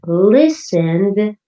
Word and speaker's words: listened: But listened ends with a d sound, less strong than looked. Can you hear the d?